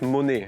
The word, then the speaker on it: Monet: Prononcez "Monet" comme le célèbre peintre Claude Monet, ce n'est pas le verbe "monet" en vannetais.